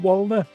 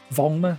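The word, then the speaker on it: Werner: Adam, we want Walner. Wner, sorry, pronounce his name wrong. Have you only been watching the Tik Toks, Adam? Cuz I have some bad news about Vulner.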